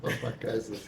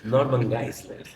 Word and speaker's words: Norman Geisler: Eu gostei da sua pronúncia, Norma Geisler. Norman Geisler.